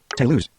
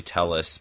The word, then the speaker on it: Telus: So TUS change your server button to lose. That's actually Telus but it pronounced it wrong.